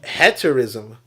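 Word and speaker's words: hetaerism: says I I that it's pronounced uh heter ism this is the historic AE style vow it's silent oh okay n but I like to call it haterism you know because it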